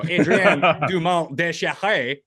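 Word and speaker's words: Adrien Dumont de Chassart: I don't need some American telling me how to pronounce a French name when je parle français. So Adrien Dumont Descharets is how I assume you actually pronounce it.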